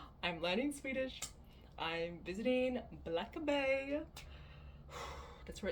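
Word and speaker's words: Blackeberg: It's like black with an E at the end and then Berg. B E R G. Spelled. It's pronounced Black Bay.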